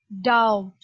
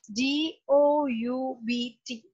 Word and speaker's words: doubt: d-o-u-b-t the spelling is doubt the you can see the letter b there but it is not making any sound right yes you pronounce